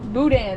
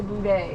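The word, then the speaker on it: boudin: Louisiana B buday buan it's buan it's supposed to be buan but they say bday all right we're in Louisiana and the pastor brought us this it's called I guess it's spelled b o u d i n but they say buan but the louisianans is that's how you say it they call it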